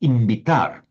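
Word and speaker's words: invitar: So, but it's pronounced it's written as if it's invit but it's pronounced imbitar.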